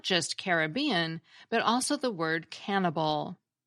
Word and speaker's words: Caribbean: close to Brave Warrior thus the word carob became the root for the word Caribbean meaning of the carob which suggests the original pronunciation was Caribbean just like Disney's movie these Island carobs as